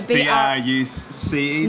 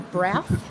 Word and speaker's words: Brous: dot a u um it's not b u on a b r u c e no of course not um b r o u s which is actually my last name but um pronounced bruce not boo or brow i was i was giving it brows for a while oh really yeah